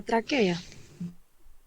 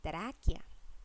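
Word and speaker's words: tráquea: Alguien que no haya participado preferiblemente Marlenis en la traquea. Traquia se pronuncia así. A pesar de que no tiene acento, se pronuncia traquia con pronunciación en la A.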